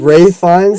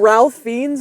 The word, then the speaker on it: Ralph Fiennes: Is it like Ray Fiennes? Ray Fiennes, I think. I don't know. I called him Ralph Fiennes, and then I saw like the Oscars, and everyone was saying Ray Fiennes.